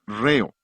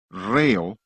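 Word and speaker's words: rheo: Es la palabra griega reo, R-H-E-O. La H es el acento en griego, por eso acentuamos la primera sílaba de la palabra ritmo.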